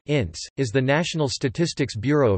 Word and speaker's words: INSEE: The National Institute of Statistics and Economic Studies French, Institut National de la Statistique et des Études Économiques, abbreviated INSEE French pronunciation, INSEE, is the National Statistics Bureau of France.